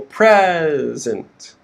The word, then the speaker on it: present: near us okay so you can see the stresses on the first syllable present and the second syllable is reduced the second word is